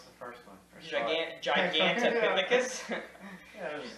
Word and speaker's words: Gigantopithecus: How do you pronounce the first one? Gigantopithecus.